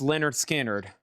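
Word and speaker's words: Lynyrd Skynyrd: Pronounced Leonard Skard.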